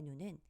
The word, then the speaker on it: 눈: 눈으로 짧게 눈이라고 발음합니다 두 번째 단어의 눈은 하늘에서 내리는 날씨의 눈으로 길게 눈이라고 발음합니다 이렇게 같은 단어라도 발음할